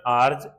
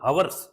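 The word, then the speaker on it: hours: कई घंटों बाद सेवरल आर्ज लेटर आर्ज देखो उच्चारण देखो आर्ज अब कई बोलते हैं अवर्स अपने दसी में तो इसको क्या बोलते हैं हर्स अवर्स नहीं भाई कई बोलते अवर्स आर्ज एच साइलेंट फिर वो आर्ज आर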